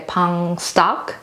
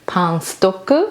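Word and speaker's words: パンストック: It's actually a pang stock, but then Japanese pronunciation Pang-stoku.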